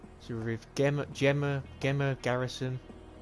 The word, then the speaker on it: Gemma: So with Gemma Garrison. Depends on how you want to pronounce it, whether you want to pronounce it the Gemma as with a G or with a J.